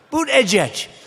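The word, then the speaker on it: Buttigieg: edge booed edge edge they said think of it as boot and then edge edge because nobody can pronounce this guy's name oh but boot edge edge they say boo dead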